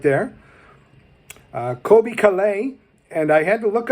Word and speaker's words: Caillat: birthday milestones on Thursday yesterday right there Colbie Caillat and I had to look up how to pronounce Calleigh and that's not how I would have pronounced